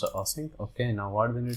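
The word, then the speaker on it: async: here paste Here and Now mark this is ass sync okay it's a sync okay now what we need to do just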